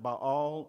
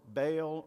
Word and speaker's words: Baal: god was called ball i'm going to pronounce it by all or baal or ball either one is is probably okay it was believed that